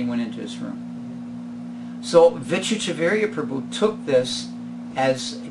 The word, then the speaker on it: Vichitravirya: So, Manjesh, you've asked, so I'm going to spell it for you. Vichitravirya.